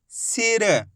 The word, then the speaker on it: सिर: ई की मात्रा तो सा का उच्चारण कैसे करेंगे सी र तो मिलके बन जाएगा सिर आई है समझ में दोस्तों इसी तरीके से आपको उच्चारण करना है सिर ज्यादा खींच के नहीं पढ़ना सीर अगर खींच के पढ़ोगे